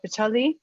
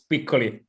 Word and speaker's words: Piccoli: joining us today and nick styles yes pacholi um am i pronouncing your last name correctly it's piccoli but it's better okay well i want to